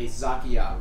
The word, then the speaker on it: Zakiya: what was his sub species called zakiyah rakshasa so uh let me spell it for you z-a-k-y-a zakiya space rochas uh